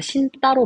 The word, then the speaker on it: 신다: 어간의 받침이 니은이고 뒤에가 다사자곰이면 얘가 신 따로 발음이 되는 거 기억나시죠?